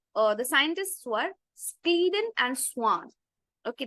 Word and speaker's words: Schwann: So the scientists were sleen and swan. Okay. The pronunciation would be Swan.